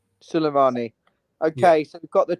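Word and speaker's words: Sulemana: Kilimano Suleimani. I mean, that's definitely not how he's pronounced.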